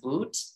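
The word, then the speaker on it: Viktor Bout: I think it's pronounced Boot, the Merchant of Death, drug, not drug dealer, I'm sorry.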